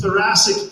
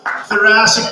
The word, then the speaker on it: Thoracic: This is Thoracic Park, rhymes with Jurassic.